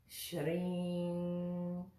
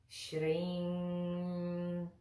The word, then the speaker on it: Śrīm: not quite buh-buh-buh-buh good so that would be pronounced shreem shirring because you see we just touched that that Sheen shrim good the next word same with the Buddha